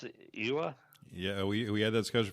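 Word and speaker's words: Oia: In fact, we walked almost halfway around the island up to, how do you pronounce it? Iwa? Yeah, we had that discussion before we started. Ia.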